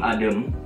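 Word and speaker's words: Adım: I gak pakai titik itu dibacanya E. Jadi Benim Adem.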